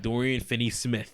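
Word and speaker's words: Dorian Finney-Smith: on him defensively say his name right BFS Dorian Finney Smith there we go I'm a big Dorian finny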